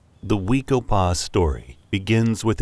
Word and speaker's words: Wekopa: The Wekopa story begins with its incomparable setting. Located on the eastern edge of Scottsdale, Arizona, Wekopa is blessed with spectacular mountain vistas in every